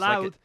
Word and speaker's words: Louth: Just Louth. like it looks.